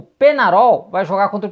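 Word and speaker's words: Peñarol: na o grande o penharol do Uruguai porém neste domingo né um dos inscritos aqui me chamou atenção falando com a pronúncia correta é como se escreve ou seja penarol né E aí eu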